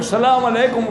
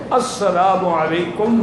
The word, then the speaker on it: السلام علیکم: نمازیں پوری پڑھیں گے۔ ہم میں 90% لوگ سلام علیکم کرتے ہیں، بالکل السلام علیکم، اصل جو صحیح تلفظ ہے السلام علیکم ورحمۃ اللہ وبرکاتہ، الف لام کے بغیر۔ انشاءاللہ مرنے کے بعد